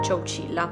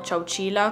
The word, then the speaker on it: Chowchilla: letto che in realtà il nome Cecilia deriva in realtà dal nome di una tribù indiana che si trovava lì un sacco di anni fa ovviamente che si chiamava Ciao Sheila quindi non sono sicurissima della pronuncia per una questione di etimologia di origine del termine nei vari servizi che ho visto io nei vari video la chiamano Ciao Cila quindi lo pronuncerò così potrebbe essere sbagliata come